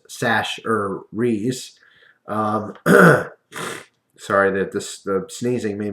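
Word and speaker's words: Chachere's: But anyway, I got you some Tony Sacheries, pronounced Sash-er-rees.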